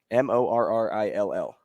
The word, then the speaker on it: Morrill: Hey, this story takes us to the small town of Morrill, Nebraska. The Panhandle. Like the mushroom, or a different Morrill? Morrill.